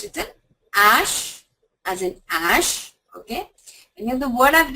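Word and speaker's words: hache: means an axe okay here if you see when I'm saying Ash I'm the accent is on a so the H the alphabet H in the word is silent it's not even aspirated I don't sound the her sound at all but if I were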